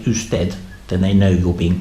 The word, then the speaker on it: usted: And if you want to be super polite and you want to get someone's attention, you could say usted, and that you has a u sound in Spanish, which sort of means sir or madam.